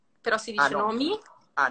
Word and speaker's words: nome: nomi. Ah, nome, ma si legge nomi, eh?